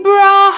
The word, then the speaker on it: brought: Remember I brought her up. Remember I brought. O GH é mudo. Brought.